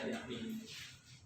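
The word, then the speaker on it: μ: Tanda kayak gini tuh apa bacanya? Mana tuh? Miu. Kok bisa gesek ya? Kayak mulia tapi ada. Ya, miu.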